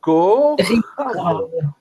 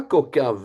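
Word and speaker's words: כוכב: Kaf, Raf, Donc, Ri, Kochav. Alors, Kochav. C'est pas Kokav, hein? C'est Non. Kochav. Il n'y a pas de point dans le Kaf.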